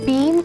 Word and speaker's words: beam: ये बेबी जी, ये है भीम ऑफ होपी। रघु, भीम ऑफ होपी नहीं, बीम ऑफ होप। नहीं, बीम, BEAM, B for bat, बीम।